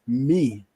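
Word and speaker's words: מי: who is me yes when you want to say um who in Hebrew which is an interrogative question it's pronounced me yes when you want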